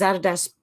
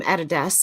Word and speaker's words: Adidas: few people that pronounces Adidas correctly the owner was called Adolf dassler but known as Addie hence his nickname Adidas and his company Adidas there you go Darren